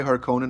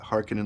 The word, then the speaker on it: Harkonnen: Except that for House Harkonnen, I'm gonna say Harkonnen, not Harkonnen like the new movies, because that was a right irritation.